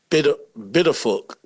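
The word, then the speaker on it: Pituffik: It's spelled with a P, but I looked up how to say it, and everybody I heard saying it was saying it with like a B instead of the P, and that could be the Dutch thing about it.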